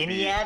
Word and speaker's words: Iniad: Shield of and that would Iniad is how you say it?